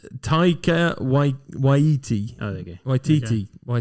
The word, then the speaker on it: Taika Waititi: Waikiki. Taika Waititi.